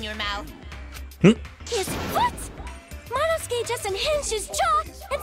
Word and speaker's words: Monosuke: Manusuke is not how I would put it. Definitely would pronounce it Monosuke.